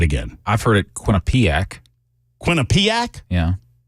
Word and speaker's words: Quinnipiac: believe in wholeheartedly although I cannot pronounce their name it's quu i n n i p IA or I a Quinnipiac that's the way I'm going I always mangle it people always correct me it's I think I did